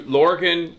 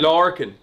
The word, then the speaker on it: Lorcan: We gotta introduce you, Lorcan. Am I saying it right? Yeah, that's right. That'll do me. How would I say it? No, Lorcan is fine. Lorcan.